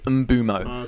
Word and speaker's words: Mbeumo: Mbeumo, I've realised today, so you pronounce it Mbeumo. Flex is the only one that's been saying it correctly the entire time. Yeah? Turns out I kept saying Mbeumo. It's Mbeumo.